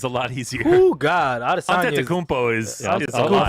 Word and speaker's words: Adesanya: Adesanya. Adesanya. And It's like Giannis's last name. I'm not going to try to say it. you just. Adesanya is a lot easier. Oh God, Adesanya.